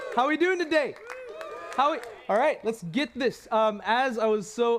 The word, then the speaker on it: Tejas: TEJAS KUMAR: As I was so lovingly Tejas. It's pronounced like advantageous.